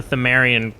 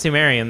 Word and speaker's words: Pthumerian: So I think it is pronounced Pthumerian then, because Tumeru? yeah, it's To. To is the first symbol in Tomeru. Japanese. So it's Tomeru.